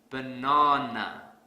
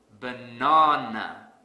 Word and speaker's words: banana: fix this I will stress the second syllable really hard banana banana the sad silly but